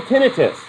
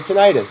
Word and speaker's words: tinnitus: So it's called tinnitus or tinnitus, depending on how you pronounce it.